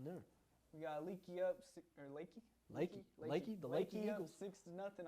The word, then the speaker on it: Leakey: We got Leakey up, Lakey, the Lakey up Eagles.